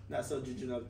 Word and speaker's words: nasojejunal: So this topic, it will be in the NGT, nasojejunal tube. Okay, and how is the nasojejunal tube placed? Nasojejunal. That's the correct pronunciation.